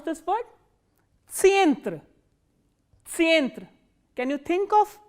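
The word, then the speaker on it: центр: And how will you pronounce this word? Tsientre, tsientre.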